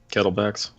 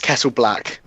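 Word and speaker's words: Kettleblack: I always read it as Kettleback. It is Kettle Black. It is. Yeah, I've always read it as Kettleback until I looked it up and saw, wait, there's an L in there?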